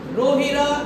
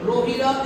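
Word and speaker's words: Rohida: Rajasthan state state FL you it's wrong pronounced roh rohira is the state flower of Rajasthan both have mispronounced r o s i r a rohira is the state FL of Rajasthan what's it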